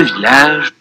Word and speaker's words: village: C'est dans ce village. C'est dans ce village. C'est dans ce village. Это в этой деревне. C'est dans ce village. C'est dans ce village. Обратите внимание, что деревня читается двумя L. Это исключение.